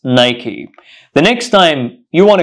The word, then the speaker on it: Nike: products of this company do you say Nike it's not Nike it's pronounced Nike Nike Nike Nike so a pair of Nike shoes so we don't say Nike it's Nike the next time you